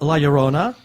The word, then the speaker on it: La Llorona: And then also there was a trailer for The Curse of La Llorona. I hope I pronounced that right.